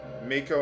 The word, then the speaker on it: Mako: Mako Energy. I'm pronouncing it Mako, not Mako.